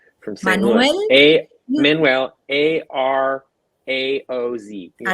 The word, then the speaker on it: Araoz: Manuel, last name is hard for me to pronounce because I'm a Guaylo from here, from St. Louis. Manuel Manuel, Araoz. Yeah. Arauz.